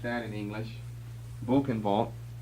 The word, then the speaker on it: Buchenwald: Buchenwald. It's pronounced that way in German. B-U-C-H-E-N-W-A-L-D.